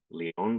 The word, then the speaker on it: Lion: LinkedIn uh Robert and the last name Leon but spelled like Lion l i o n